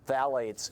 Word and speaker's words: phthalates: Phthalates, P-H-T-H-A-L-A-T-E-S, it's pronounced phthalates, in Jot brand blue 3-ring binder.